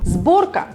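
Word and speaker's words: сборка: If letter S stands in front voiced consonants, it sounds like Z. For example, sborka, you hear it? Sborka.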